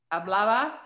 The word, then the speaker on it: hablabas: Hablabas. Where is the Where does the accent go on that? Is it on the BA? There's no accent mark, but the stress is on the hablabas.